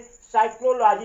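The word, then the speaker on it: psychology: पी क्या है, rule number 11 है, यस से पहले अगर पी आते हो, पी आए तो पी क्या होता है, साइलेंट हो जाता है।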